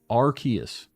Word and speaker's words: Arceus: It's pronounced Arceus.